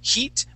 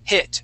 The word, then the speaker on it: hit: word hit okay uh make sure to use a short eye sound so instead of saying heat we want to say h hit try that hit good